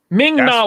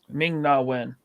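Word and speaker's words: Ming-Na: from the Tuscan Raiders Ming Na when I said her name wrong Ming naw there we go thank you Yan but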